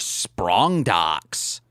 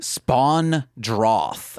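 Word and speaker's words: Spawndroth: the luxar sprong docks I heard as luxar spawn DS but it's droth droth yeah wait what why' you say it wrong because that's what I had written down until I Googled it what is it actually spawn droth okay yeah I didn't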